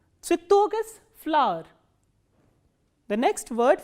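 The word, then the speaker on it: цветок: The next word is ts, v, ye, t, o, k, and the stress is on o.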